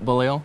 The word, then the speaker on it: Beaulieu: Yep, Beaulieu.